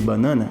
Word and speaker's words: banana: Percebe que a primeira sílaba, eu quase não pronuncio ela, ela é muito rapidinha quando eu vou pronunciar. Banana. Banana. Então essa primeira sílaba e também a última, ambas levam o famoso chuá sound.